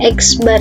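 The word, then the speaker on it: x̄: ada tanda seperti ini ini kan huruf x diatasnya ada garis ini dibacanya eksbar ya ini artinya adalah rata-rata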